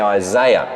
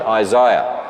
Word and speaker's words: Isaiah: for instance in Isaiah I know you over here in America say Isaiah but can you say like an Australian Isaiah much better much better